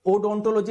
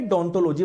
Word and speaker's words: डोंटोलॉजी: इसकी spelling O से शुरू होती है, तो उसको ओडोंटोलॉजी नहीं बोलेंगे, डोंटोलॉजी बोलेंगे। जब इसको ये वर्ड बोला जाता है तो ओ आपका साइलेंट रहता है, ठीक है।